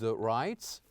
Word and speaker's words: writes: For example, the word writes and writes ends with an S, the sound S.